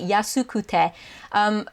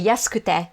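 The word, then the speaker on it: 安くて: So if you get confused, if it doesn't sound like I'm saying kute and I'm just saying kte, it's because I am just saying kte, because that's how native speakers pronounce it.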